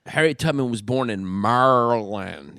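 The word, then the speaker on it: Maryland: tutman was born in Marland you know how they say it that's how they say Marland yeah which is a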